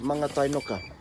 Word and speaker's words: Mangatainoka: It's called, this place is called Mangatainoka. Mangatainoka, alright? It's not Mangatainoka, as they keep saying on those ads. Brewed in Mangatainoka. Yeah, it's Mangatainoka.